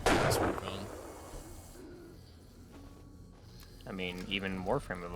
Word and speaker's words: Wukong: it's the English translation I assume you just put more emphasis on Kong because it's wuk Kong because it's the English all right you're the only person you're the only person I've ever heard pronounce it with the heavy emphasis on the second half with the inflection on